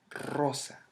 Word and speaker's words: rosa: For example, the word guerrero, that you may pronounce as guerrero, it's guerrero. Guerrero. Guerrero. Same for the word rosa.